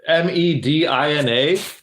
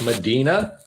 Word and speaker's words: Medina: because uh uh just south of me it m-e-d-i-n-a most people would think that's Medina oh hi but it's Medina Ohio so yeah